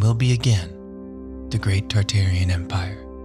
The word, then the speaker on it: Tartaria: be again the great tartarian Empire tartaria originally pronounced tataria without the first R is the name of